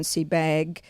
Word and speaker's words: Sebag: And did I pronounce Simon's last name properly? Is it Sebag?